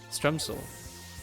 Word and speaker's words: stremsel: Is it not pronounced Stremsel? Is it like Gemschel or something? It's got to sound like you have a hairball if you want to pronounce some things in Dutch, I feel. I'm getting better at it. You pronounced it correctly.